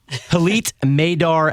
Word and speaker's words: Hillit Meidar: it reading it yes I think it rhymes with Elite because I would put you as Elite is that fair um okay no I'll take it I'll take it sure Elite maidar Alfie there you go